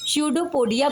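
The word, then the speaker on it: pseudopodia: सडोपोडिया को हिंदी में कहते हैं छद्म पद या इसे कहते हैं false feet. Means shadow means होता है झूठा जहां पर पी साइलेंट होता है और पोोडिया यापोडा मींस होता है पैर।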